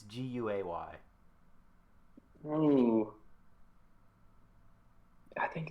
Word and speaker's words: Guay: Is it Guy or Gay? Do you know? It's Guay.